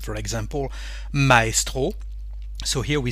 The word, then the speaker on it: maestro: here is e nus when we have the letter letter a and the letter e actually it's a foreign word and we keep the pronunciation of the foreign word with the French accent for example Maestro so